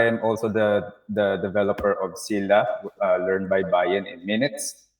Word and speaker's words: Sila: Sila. Sila. Parang So, syllable.